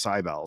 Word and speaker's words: Cybele: I even was in the YouTube comments of a pronunciation video the other night, and someone's like, "My name is Sibylle, and it's pronounced Cybele."